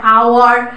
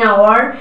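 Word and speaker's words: hour: বলে সেরকম উচ্চারণ, এটা আওয়ার, অনেস্ট ম্যান, এখানে কিন্তু এইচটা সাইলেন্ট থাকে, তো এইসব সাইলেন্ট যে অ্যালফাবেটগুলো উচ্চারণটা সাইলেন্ট হয়ে যায় তার প্রোনাউন্সিয়েশনটা, সেক্ষেত্রে কিন্তু অ্যান বসবে, অ্যান আওয়ার, an honest man, হ্যাঁ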